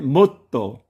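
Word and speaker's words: もっと: 거기에 동화되어 이 초금도 트로 발음이 되고 있습니다. 그래서 T가 두 개 나란히 붙어 있지 않습니까? 발음은 못도, 못도입니다.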